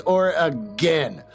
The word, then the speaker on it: Oregon: to Julius look dude I know you told me it's or again accent uh on the first syllable it's not that I